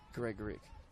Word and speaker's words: Gregoric: Ambrose puts it into Seno, who put a beautiful ball in for the one-touch finish for Chelsea Gregoric. And yes, that is how you say it.